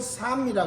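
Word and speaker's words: psalm: 시편이라는 말이 그 영어 성경으로는 영어로는 삶이라 그러죠. 삶. P-S-A-L-M. 그래서 P도 묵음이고 L도 묵음이에요.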